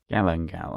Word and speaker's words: galangal: How is it pronounced? This one gallal galangal.